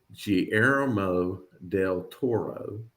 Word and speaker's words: Guillermo del Toro: And I looked this up, Guillermo del Toro.